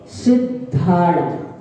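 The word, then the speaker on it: सिद्धाणं: नमो अरिहंताणम, नमो सिद्धाणम, धा धनुष का, सिद्धाणम नहीं, नमो आयरी याणम, आड़म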